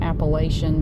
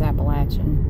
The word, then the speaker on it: Appalachian: Appalachian Mountains I know outside of here they pronounce it Appalachian but if you're from here it's Appalachian but uh this is it's pretty far up